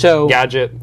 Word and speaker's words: GDGT: the Twitter handle is GD GT like Gadget like Gadget without the vows if you want to know know how to pronounce it and here's the logo